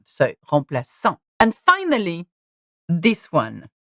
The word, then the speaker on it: remplaçant: If it didn't have a cedilla, then the sound will be K, remplaçant. But that's not the word. So, remplaçant.